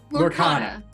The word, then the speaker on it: Lorcana: How am I going to pronounce it right? Lorcana.